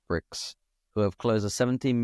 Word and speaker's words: BRKZ: This is about Saudi BRKZ, I guess pronounced bricks, who have closed a 17 million Series A for a construction tech platform.